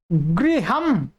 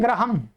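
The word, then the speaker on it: गृहम्: इस शब्द के उच्चारण में बहुत ध्यान देना होगा आपको। ठीक है, प्राय करके लोग क्या बोलते हैं? ग्रहम। क्या बोलते हैं? ग्रहम। क्या बोलते हैं? पंडित जी हमारा ग्रह प्रवेश करा दीजिए। क्या? ग्रह। आप प्राय सुनेंगे, इसका उच्चारण पूरा अशुद्ध है, आपको शुद्ध करना है आज के बाद में।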